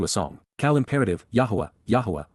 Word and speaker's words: Yahowah: Cal imperative, Yahowah, Yahowah, the proper pronunciation of the name of Eloah, God as directed in